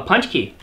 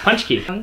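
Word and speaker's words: pączki: oh and they have a recipe for a punch key but that's how you pronounce that yeah punch key they have a recipe that's so cute oh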